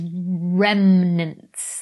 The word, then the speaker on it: remnants: always picks me up when i say remnants i can see it written down it's it's remnants like i think i'm just putting an extra syllable into it for no reason okay you have to